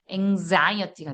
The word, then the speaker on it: anxiety: anxiety가 돼요. 강세가 뒤에 오니까 exit이 되고요. exist가 돼요. 예. 그래서 이 X를 중심으로 강세가 앞에 있으면 크스, X 발음이 강세가 뒤에 있으면 그즈가 됩니다.